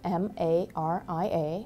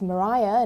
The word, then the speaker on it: Maria: Maria Mitchell, whose first name is spelled like mine, MARIA but it's pronounced Maria not Maria, is the first recognized